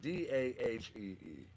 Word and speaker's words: Dahi: Ian Cash, R&B and Soul, featuring Dahi, I believe is how it's pronounced. It's Dahee.